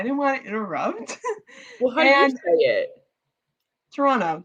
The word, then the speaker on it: Toronto: want to interrupt well toronto you don't say the second t toronto yeah how do you